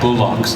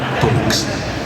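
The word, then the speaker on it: bollocks: set and he's like, "We don't say it like that, you brat." It's bullocks, say it after me. Bullocks. I'm like, bullocks. No, bullocks.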